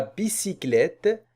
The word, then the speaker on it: bicyclette: La bicyclette, la lettre C, on va la prononcer S parce que ici on a Y. On a Y, alors on va prononcer S.